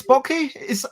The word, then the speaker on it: Backe: So, I am Bez, and this is Chris Backe. Am I pronouncing your surname correctly? That is correct. It rhymes with hockey or rocky, and if you get it wrong, don't worry.